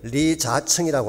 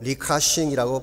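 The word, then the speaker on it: 李嘉誠: 이 노신사 이름이 리자청이라고 하는 분입니다. 중국 발음으로 리카싱이라고 발음을 합니다.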